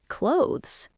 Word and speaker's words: clothes: Or a word like clothes. C l o t h e s. You've got a th and a z sound. Clothes.